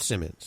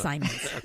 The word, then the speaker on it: Simons: yes I did wait a minute it's Sean Simons so it's not Simmons it's not Simmons it's Simons Simmons Simons you say tomato I say tomato it's spelled the same way no one M or